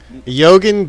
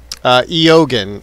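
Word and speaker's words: Eoghan: Yogan Deezy. I think that's how you pronounce the name. Logan Deezy. Eogan. E-O-G-H-A-N. Eogan. I think that's how it's pronounced.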